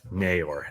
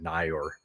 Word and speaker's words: Neyor: Uh very tight frame shot, but a a a great catch um from Isaiah Naor, and that's how you pronounce his name.